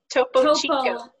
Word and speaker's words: Topo Chico: Topo, Topo, and then Chico, CHICO. Oh, Topo Chico.